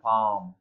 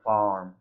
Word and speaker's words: farm: או למשל, באנגלית בריטית חווה הם יבטאו יותר בכיוון של farm, ובאנגלית אמריקאית זה יותר farm.